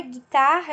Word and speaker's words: guitarra: só guitarra da palavra guitarra eu não consigo ouvir huggo e nem água eu só ouço um só o único né o gui então um ele não